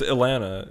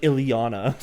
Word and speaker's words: Ilana: Yeah, it's Ilana. It's like Ilana with an I. But it would be like Ileana if you like actually just said it how, like, if you Yeah. pronounce the I.